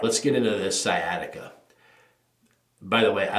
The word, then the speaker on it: sciatica: got this because the most of them can't pronounce sciatica I hear all kinds I got skit I got sikata and stuff like that it's I always whenever